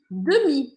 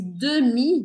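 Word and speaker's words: demie: E aí a gente fala meio rapidinho esse demi, né? Eu acabo meio que comendo essa letra E aqui, ó.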